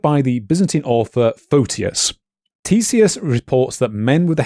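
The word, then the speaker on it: Ctesias: fifth century BC author uh Tissus I think it's pronounced starts with a C uh that was preserved by the Byzantine author Fotius. Tissius reports that men with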